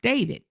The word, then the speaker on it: D4vd: It stands for David, but it's D the number four V D. That is his stage name and it's pronounced David.